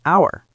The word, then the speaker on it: hour: It's about the sound, not the letter. The word starts with an sound, which sounds like a vowel. So, we say an hour.